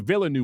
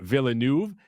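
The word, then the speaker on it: Villeneuve: course directed by Deni villanu it's villanu right he I I believe I did watch him pronounce it recently and then unsung hero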